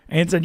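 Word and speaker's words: Eyanson: Anthony, I believe, is it Ianson, how you say it, the #2 guy from Cal Santa Barbara. Anson, yeah, he's been great.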